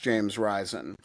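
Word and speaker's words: James Risen: And yes, John Hawinson, it is pronounced James Ryzen.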